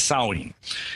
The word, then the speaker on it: Samhain: It's spelled Samhain, but we say it as Samhain.